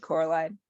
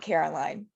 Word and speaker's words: Coraline: "No," said Coraline. The old man shrugged. "They are funny, the mice. They get things wrong. They got your name wrong. They kept saying Coraline, not Caroline.